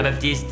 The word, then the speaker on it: Baptiste: C'est bien Baptiste. On prononce pas le thé.